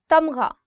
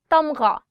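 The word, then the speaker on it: تمغہ: Tamgha, medal. Tamgha, gha. The sound of gha or the alphabet ghain is always coming from here. So try it from here. Tamgha.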